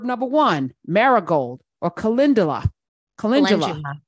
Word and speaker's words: calendula: one Marigold or calendula calendula the DU means ja okay calendula yeah it sounds like